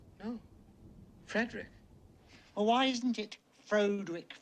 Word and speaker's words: Frederick: Castle Frankenstein you're putting me on no it's pronounced Frankenstein do you also say frck no Frederick well why isn't it Fredick Frankenstein it isn't